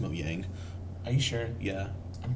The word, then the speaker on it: Mojang: It's pronounced Moyang. Are you sure? Yeah. I'm pretty sure it's Mojang. It's Moyang. Okay, whatever. The J is a Y.